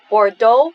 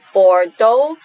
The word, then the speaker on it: Bordeaux: In Hong Kong, draw inspiration from Bordeaux, and this is pronounced as K. In France, there we don't pronounce the last consonant. So Bordeaux, K.